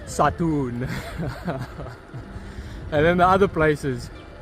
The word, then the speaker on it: Satun: or Satan, but it's pronounced Satun.